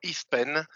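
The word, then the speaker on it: IFPEN: does it do in in french we pronounce eastpan this is as you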